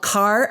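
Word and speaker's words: Kahr: guns the company is called Car Firearms group and it's headquartered in grey Pennsylvania it's spelled k ah HR the gun company is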